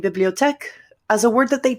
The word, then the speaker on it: bibliothèque: And so when I see bibliothèque, I pronounce it the way the French people do. as opposed to perhaps a newer learner of language who is a speaker of English who looks at it and says bibliotheki.